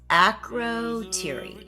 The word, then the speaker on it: Akrotiri: Akrotiri? I don't know. I pronounce everything wrong. It's pronounced Akrotiri.